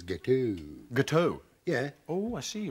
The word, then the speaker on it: gâteau: Gâteau? Yeah. Oh, I see, right. Yeah, the X is silent. I thought with your French-Canadian connection, you would have known that. Gâteau. So it's gâteau as opposed to gâteauks.